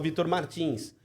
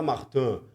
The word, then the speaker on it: Martins: um piloto de Fórmula 2 que é o Vitor Martins. O francês fala Martin, mas é muito arrogante falar Martin quando um sobrenome tão conhecido é Martins. Então é Vitor Martins.